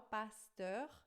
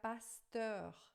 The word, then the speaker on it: pasteur: Com E-U-R no final, pasteur. E aí a pronúncia é heure. Você faz uma boca de O e fala vai ficar pasteur, tá?